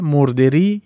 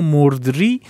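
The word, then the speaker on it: مردری: For this same reason it is read as "morderi" or "mordri" short for "mordereeg" Both pronunciations are valid however, "mordri" is more accurate.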